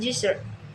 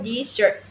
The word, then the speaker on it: desert: For example, in the word desert, noun meaning a dry region, the first syllable is stressed desert. And the word desert verb meaning to abandon the stress shift to the second syllable desert.